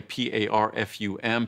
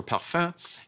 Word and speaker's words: parfum: If you look at a product and it says fragrance, or it says, in French, the word is parfum, but it's spelled the same way, P-A-R-F-U-M, parfum.